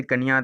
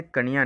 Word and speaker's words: कानिया: हीरालाल जी कन्या नहीं, कानिया, जो भी एक करेक्ट प्रोनाउंसिएशन कानिया है शायद।